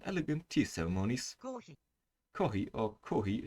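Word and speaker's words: コーヒー: tea ceremonies corey or kohi is a japanese pronunciation for coffee coffee is very popular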